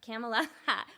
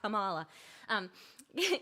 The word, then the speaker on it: Camela: Camela, we were talking about all the different mispronunciations. It's not Kamala.